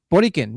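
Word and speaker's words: Borikén: Borican, yeah. Yeah, that's how you pronounce it because it's in Spanish right down here.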